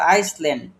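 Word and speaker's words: island: বলেন তো এখানে কোন জিনিসটা সাইলেন্ট হবে? আমাদের কিন্তু এখানে আমরা কি বলি এটাকে? আইসলেন বলি। কিন্তু এটা কিন্তু আমাদের ভুল।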